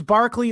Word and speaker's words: Berkeley: But so it's Barclay or Berkeley is how it's spelled. As you know, in England they say er things as r a lot, like Yeah.